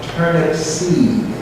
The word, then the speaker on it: Turnipseed: For the people that may have heard my name wrong, it's Turnipseed. Right? You got it now? Okay. It's Dutch.